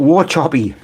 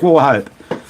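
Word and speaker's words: Wauchope: So, for you people that are trying to pronounce W A C H O P E, a lot of people call it War Choppy. War Choppy. War Choppy. It's War Hope.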